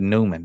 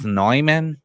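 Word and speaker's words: Neumann: how you say it I said Newman dog I'm from Mississippi that's I say it how I want to say it it's nyman it's nman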